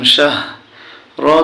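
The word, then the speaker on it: شَهْر: শিনে জবর হায়ে জজম শাহ, র দুই জের রিন, শাহরিন। এখানে আমরা থামলে উচ্চারণ হবে শাহর।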